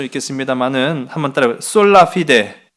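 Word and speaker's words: sola fide: 솔라 피데. 이게 피데, 이게 발음이 좀 중요해. 피데 이렇게 좀 세는 것처럼.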